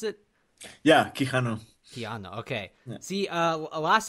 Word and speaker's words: Quijano: Is that how you pronounce it? Yeah, Quijano.